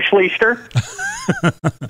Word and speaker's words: Schlichter: No, there is not, though my brother once scored his autograph going, yeah, we pronounce our last name Schlichter.